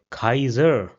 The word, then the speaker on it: Kaiser: So an example will be my which means the month may my or the word Kaiser which means emperor.